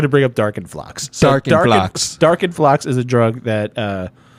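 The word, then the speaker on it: Darkenfloxx: If you're not going to be like, this is Darkenflocken. Okay. First of all, it's Darkenflox, and I knew you were going to bring up Darkenflox. So Darkenflox.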